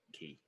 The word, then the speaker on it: quay: you to a quay i know it's pronounced q key many of these anyone's